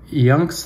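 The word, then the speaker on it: IUNX: her own brand um yunks I believe it's pronounced I NX which I found on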